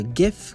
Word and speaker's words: GIF: with a gif or gif with a hard g so uh either way jif or gif it's uh acceptable it's a it's an